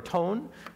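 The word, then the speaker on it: τόν: You see that word tone? Excuse me, it's pronounced ton.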